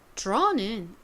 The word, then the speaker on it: draw: 그리고 A, W를 써주시면 되는데 여기서 D랑 R이 만나면 이때 D는 디귿 발음이 아니라 지읒의 소리가 가미된 그런 소리가 난다라고 말씀드렸어요. 그래서 draw가 아니라 draw 이렇게 원어민들은 발음을 한다라고 말씀드렸었죠.